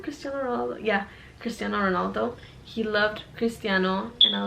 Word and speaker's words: Cristiano Ronaldo: Is that how you pronounce his name? Cristiano Ronaldo? Yeah, Cristiano Ronaldo.